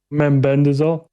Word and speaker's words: Mebendazole: Mebendazole.